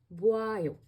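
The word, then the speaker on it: 봐요: And you pronounce it as buayo. Buayo. As you know, o and a become wa.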